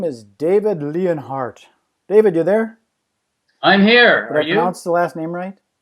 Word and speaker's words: Leonhardt: line for today, and his name is David Leonhardt. David, you there? I'm here. Did I pronounce the last name right?